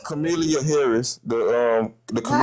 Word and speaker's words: Kamala: Kamala or Kam I don't know how to pronounce it. Is it Kamla or Camala? It's Chameleia Harris.